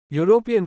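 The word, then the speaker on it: European: underscore यूरोपियन not Asian A यूरोपियन का उच्चारण Y consonant से शुरू होता है इसलिए अ लगेगा दो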